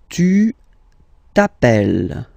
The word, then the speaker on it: appelles: All right, second form, tu t'appelles. Okay, remember, final s not pronounced, tu t'appelle.